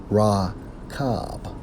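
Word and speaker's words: רכב: When we focus on chariot, according to the Hebrew, it's Strong's H 7393, pronounced as Rakab.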